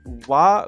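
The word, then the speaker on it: は: Yeah, it's only pronounced wa as a particle.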